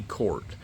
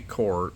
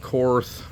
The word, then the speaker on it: Korth: way that I say court but that is the correct way to pronounce the word Court in the German in the German language a lot of people call it corth I knew some of